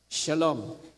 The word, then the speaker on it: Shalom: w pagka sinulat eh pero ang pronounce ay s shin ah lamed letter L at saka M Shalom.